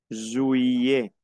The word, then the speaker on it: juillet: Juillet. Juillet. No pronuncio la T, las dos L como una I. Juillet. ¿Qué? La T final no se pronuncia.